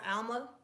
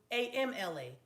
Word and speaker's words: amla: Alma, ALMA. Is that how you pronounce it? AMLA.